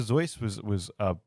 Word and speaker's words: Seuss: Seuss is I will never pronounce it Dr. Zeus and not feel dirty. Although actually, apparently he claimed Dr. Seuss because people pronounced it that.